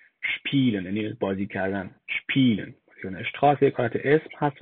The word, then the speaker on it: spielen: spielen.